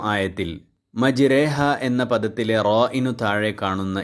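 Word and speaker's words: مجراها: ഇമാലത്തുൽ കുബ്റ എന്നറിയപ്പെടുന്നത് അതായത് ഇവിടെ റ എന്നതിന്റെയും രി എന്നതിന്റെയും ഇടയിലായി രേ എന്ന ശബ്ദം നൽകി ബിസ്മില്ലാഹി മജ്രീഹ വർഹ ബിസ്മില്ലാഹി മജ്രേഹർഹ എന്നാണ് പാരായണം ചെയ്യേണ്ടത് ഇവിടെ കസറുള്ള റയിനെ പോലെ ശബ്ദം നേർപ്പിച്ച് രേ എന്നാണ് ഉച്ചരിക്കേണ്ടത് റേ എന്ന് കനപ്പിച്ച് ഉച്ചരിക്കുവാൻ പാടില്ല ഒരു അറബ് ഗോത്രത്തിന്റെ ഉച്ചാരണം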